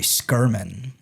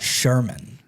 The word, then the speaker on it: Skirman: His last name is actually Skirman, not Sherman.